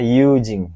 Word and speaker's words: 友人: Jadi, yujing ini bacanya yujing.